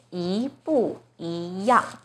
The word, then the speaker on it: 一不一样: Now the first 一 is followed by a fourth tone 不. So the first E itself should be the second tone. 一不一样. So problem solved. This phrase is pronounced as 一不一样.